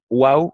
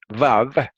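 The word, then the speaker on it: וָו: En hebreo, la Waw o Vav, como se dice en hebreo moderno, Vav, como se decía en hebreo antiguo y todavía en el hebreo yemenita, Waw.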